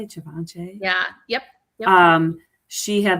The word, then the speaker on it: Givenchy: Givenchy?